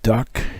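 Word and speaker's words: DUKW: through World War II this is correctly a duw it is pronounced duck it is a GMC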